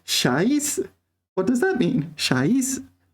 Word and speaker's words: 啥: The problem is, my dear audience, the problem is that sha is second tone, right?